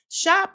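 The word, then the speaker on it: Schaap: Pastor Jack Schnop or Shop or I think I'm saying it right, Shop.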